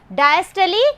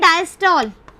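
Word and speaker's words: diastole: डायस्टली condition, इसको हम बोलते हैं ना डायस्टॉल, जो तुम लोग बोलते हो डायस्टॉल, लेकिन एक्चुअल में इसका प्रोनाउंसिएशन कैसे होता है, डायस्टली, ठीक है, डायस्टली होता है, लेकिन अपन लोग सभी ये बोलते हैं सिस्टॉल, डायस्टॉल।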